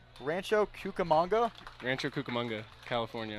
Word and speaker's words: Rancho Cucamonga: move as you've grown up in, let me pronounce this correctly, I hope I'm right, Rancho Cucamonga? Rancho Cucamonga, California.